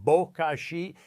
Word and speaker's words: bokashi: It's called bokashi, pronounced bokashi, and it's fundamentally different from the traditional compost pile most of us grew up with.